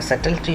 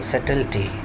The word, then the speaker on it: subtle: the supposed of simple subtlety uh be silent here you would pronounce it as subtle subtle and it here you